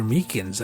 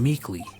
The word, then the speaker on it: Meekins: Actually, Officer Meekins at the detention center told us. Ah, that poor little doggy. Poor guy. I keep on getting his name wrong. I keep on calling him Meekly.